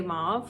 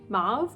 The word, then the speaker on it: Mauve: always get comments on how I say Mau Mau like mauve mve anyway it's very pretty regardless